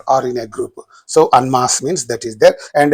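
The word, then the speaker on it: en masse: An unmas. Don't say n. Unmas.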